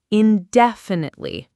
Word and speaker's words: indefinitely: The stress on that word is on the second syllable, indefinitely.